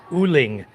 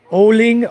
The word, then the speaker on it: uling: Charcoal here, guys, is called uling. Oling, O-L-I-N-G, or U-L-I-N-G, depending on where you are and how they pronounce it.